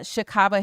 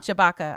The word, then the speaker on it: Shabaka: is played by uh Barry uh shaba Henley I think is how you pronounce thata Shabaka I'm sorry uh Henley and so